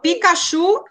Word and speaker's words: Pikachu: Então, o Pikachu, qual é a sílaba mais forte na palavra dele? É a última, chu. Chu. Chu. Então, Pikachu é oxítona, paroxítona ou proparoxítona?